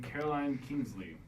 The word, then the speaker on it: Caroline Kingsley: And then Caroline Kingsley.